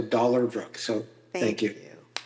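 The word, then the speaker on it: Dollarbrook: Um, and and phonetically it's D O L L A R B R O K. So, dollar brook.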